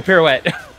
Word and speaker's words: pirouette: can't I don't know the high kick the pirouette pirouette that's it okay okay if the demon is loose I couldn't just pirouette it all over oh look as long as